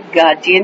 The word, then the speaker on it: guardian: हमें बताया था कि ये वर्ड जो है इसको जब प्रोनाउंस करते हैं तो गार्जियन प्रोनाउंस करते हैं, यानी आपका जो डी है वो जी की आवाज देगा, गार्जियन प्रोनाउंस करते हैं।